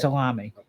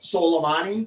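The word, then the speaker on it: Soleimani: killed the Irani General solomani right solami oh I'm sorry I can't say his name how do you say it solomani okay yes that's I like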